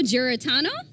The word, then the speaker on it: Giarratano: Okay, so I should have asked Joe how to pronounce his last name because we call him Joe G in the office. So Joe Giarratano.